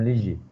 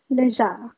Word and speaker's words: Léger: Au Québec, si c'est écrit comme ça va être léger. Mais ici, au Nouveau-Brunswick, si c'est écrit comme ça va être légère. C'est un nom acadien.